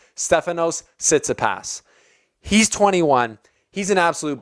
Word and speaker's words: Tsitsipas: going to try and say it right, Stefanos Tsitsipas.